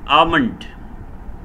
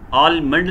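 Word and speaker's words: almond: आगे खुश्क मेवा जाति कुछ नाम, आमंड, बादाम, आमंड, आलमंड नहीं इसको पढ़ना, एल इसमें जो है वो साइलेंट है, आमंड इसको पढ़ा जाएगा, बादाम, वॉलनट, वॉलनट, अखरोट, रेन्स, किशमिश, रेन्स, किशमिश।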